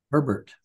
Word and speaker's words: Herbert: him 18 different things how do you pronounce his name so I pronounce it right Herbert Herbert like like Sherbert Herbert okay um university I